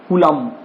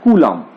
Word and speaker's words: Coulomb: हिंदी में बोलना पड़ता है कूलाम।